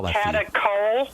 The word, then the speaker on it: catechol: Catechol estrogens. Ask your doctor if they know about those, and I'll spell that for you. Catechol. Catechol.